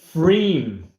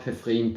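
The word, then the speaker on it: Pfriem: Also, it's pronounced Freem. Okay. Freem. Freem. Not Pefriem, but Freem.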